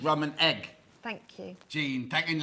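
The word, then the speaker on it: Eigg: Star oh the islands are called RAM and egg thank you Jean than L thank you I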